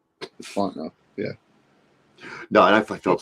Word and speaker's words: Fontenot: The T's silent. Fontenot, yeah.